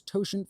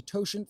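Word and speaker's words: totient: Um, and somebody has said Oiler's toshant function. They're not sure how to spell it if anyone is curious in the future.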